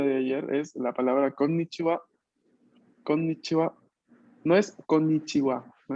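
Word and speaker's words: こんにちは: Pero atención que aquí tenemos una doble N, una doble N. Por lo tanto, no es konnichiwa, sino konnichiwa, konnichiwa. A ver, prueben ustedes. Konnichiwa.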